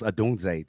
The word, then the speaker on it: Odunze: That's how it's pronounced, Odunze, to get it right.